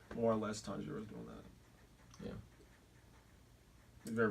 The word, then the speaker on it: Tanjiro: What Tajiro? Tanjiro.